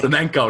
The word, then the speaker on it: Flamenco: Flamenco, not Flamingo. I would have appreciated you pronounce it properly as opposed to the large board.